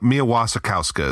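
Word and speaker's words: Mia Wasikowska: I'm not going to try to I know that one is Mia Mia Wasakowska is how you pronounce her name.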